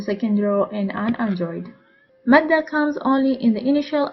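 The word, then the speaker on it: مدة: The last form of alif is madda. Madda is in the form of a glide over an alif. It is pronounced as a long a, just like the a of at.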